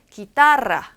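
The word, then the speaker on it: guitarra: 어디서 와야 되냐면 이렇게 GUI 쓴 표현을 구이, 생선구이 할 때 구이 이렇게 읽지 않아요. 기. 요 발음은 기타라, 기타라, 기타라는 단어예요. 기타라라고 읽어주시면 되고요.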